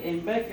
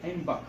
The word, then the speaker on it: Einbeck: But because of the pronunciation, you don't say Einbecker, you say Einbach.